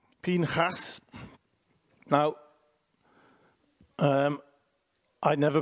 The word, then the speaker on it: Phineas: Phineas. Now, I never pronounce his name like that. I always call him Pincus.